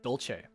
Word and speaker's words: Dolce: It's so funny how people can't pronounce my last name. Dolce.